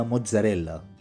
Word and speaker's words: mozzarella: جبنة موزاريلا أو كما تنطق باللغة الإيطالية موتزاريلا، والتي أخذت اسمها من